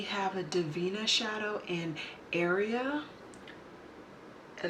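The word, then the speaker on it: Aria: Then we have a Divina shadow in Area, and it's not spelled like area, like this is your area.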